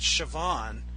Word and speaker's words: Siobhan: Siobhan yeah yeah it's it has a B in the name but it it really I mean it's pronounces the way I've heard it pronounce it Siobhan with a V and not not a B I mean now now